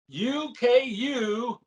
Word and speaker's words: ukulele: Because when I first began this, I watched a guy named Jake Shubakuro play it, and he called it an ukulele, which is probably the proper way to say it.